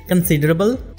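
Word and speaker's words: considerable: कंसिडरेबल, जैसा कि मैंने आपको बताया था, जिन वर्ड्स के एंड पे ए बी एल ई आएगा उनको आप एबल नहीं बल्कि अबल प्रनाउंस करेंगे।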